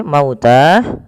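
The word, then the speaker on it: الموتى: Suara lamnya kemudian P lafal almauta di sini mauta sebelumnya di lafal mau yaitu ada bacaan Lin yaitu lembut di dalam pelafalannya karena ee ada huruf wau sukun didahului dengan huruf fathah maka dia lembut dalam pelafalannya kemudian pelafal Ta di sini kita baca dengan mad thobii panjangnya ya dua harakat maka harus dipanjangkan dulu dua harakat mauta dan di sini penulisannya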